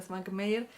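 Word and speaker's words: Švankmajer: Svankmajer se lee, pero se pronuncia Svankmajer.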